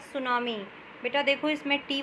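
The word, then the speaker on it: tsunami: आपके इस second chapter का नाम है द सुनामी बेटा देखो इस मिट्टी व जो है वह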